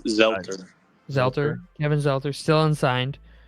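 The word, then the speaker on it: Zeitler: Is it Zelter or Zettler? Do you know? It's Zelter.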